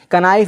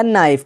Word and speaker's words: knife: अब देखिएगा नाइफ, KNIFE, कनाइफ नहीं पढ़ा जाएगा बल्कि पढ़ा जाएगा नाइफ, क्योंकि यहाँ पे के बाद एन आया है, एन जो आया है, एन से पहले क्या है, के है, तो क्या के साइलेंट हो जाएगा।